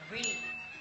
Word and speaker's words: brille: Brille. So you pronounce it like this. Brille. You have to make your face like this.